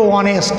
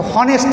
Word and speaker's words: honest: কিন্তু HONEST এটি হলো অনেস্ট, এটা হনেস্ট না।